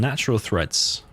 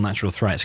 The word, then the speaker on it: Natural Threats: Natural Threads. Yeah, we call it Natural Threads, even though it's called Natural Threats, because Fargo pronounces everything or types everything completely wrong.